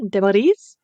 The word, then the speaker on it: Demerise: We're doing a Sandy Clam episode today with one of my favorite repeat offenders, Hannah Demoris. Am I pronouncing that correctly?